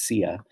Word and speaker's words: Xia: first chinese dynasty the sia and now it looks like it's xia but it's pronounced sia was born okay now there is actually really no definitive evidence for the sia dynasty or that there